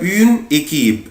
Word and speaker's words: une équipe: هنا انا بقولها اون ايكيب، بس لما اجي انطقها طبعا مش هفرق ما بينهم، مش هقول اون وايكيب على بعضها كده.